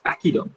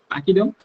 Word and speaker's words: pachyderm: it is uh written like p-a-c-h-y d-e-r-n but pronounced as pachyderm okay pachyderm so uh pacquiao is an animal who is